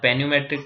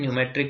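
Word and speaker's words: pneumatic: यहाँ पेन्यूमेट्रिक टायर नहीं, न्यूमेट्रिक बोलेंगे, पीस है यहाँ पर साइलेंट है।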